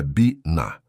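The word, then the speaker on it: בינה: A pronúncia é biná.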